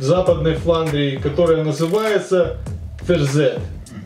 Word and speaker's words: Verzet: Отсюда и буква «T», которая указывает на античность употребления слова, но при этом не произносится, разве что очень мягко, почти условно. Ферзет.